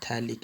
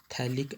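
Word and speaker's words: phthalic: यहाँ पर होगी, और इसको हम बोलते हैं थैलिक एसिड। PH साइलेंट होता है, थैलिक एसिड, ये थैलिक एसिड की फॉर्मेशन होगी।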